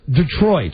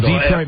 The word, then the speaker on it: Detroit: You pronounce it Detroit. Yeah, it's not Detroit.